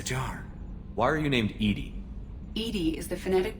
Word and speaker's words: EDI: airlock is a jar why are you named Ed Ed is the phonetic pronunciation of Ed di that is an acronym